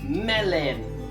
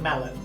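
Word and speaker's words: melyn: Melon. So like melon, but melon.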